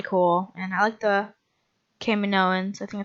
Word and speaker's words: Kaminoans: Camino was really cool and I liked the Kaminoans that's how you pronounce them so I think I'm gonna I